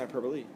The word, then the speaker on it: hyperbola: The graph of this function gets me what's called a hyperbola. Or some people pronounce it hyperbole. Depends. Hyperbola.